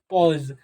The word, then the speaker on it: pause: क्या कर रहा है, यदि किसी वर्ड में अगर यही AU एक साथ आ जाता है तो इसी AU को क्या कहता है, इसी AU को क्या पढ़ा जाता है, अप्रोनाउंसिएशन किया जाता है। क्या किया जाता है, अप्रोनाउंसिएशन कर दिया जाता है। तो इसे क्या पढ़ा जाएगा, पॉज।